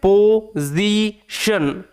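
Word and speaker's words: position: অর্থ হচ্ছে করা অধ্যায়নের দ্বারা দা পজিশন এটার উচ্চারণ হচ্ছে পজিশন টি আই এনশন এবার এস টা দুটো ভাওয়েলের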